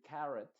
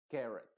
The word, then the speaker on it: carrot: Unidos se diría parents Y en vez de decir carrot se va a decir carot carot y estas palabras Tú